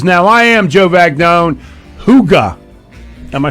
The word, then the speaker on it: Hygge: Huga.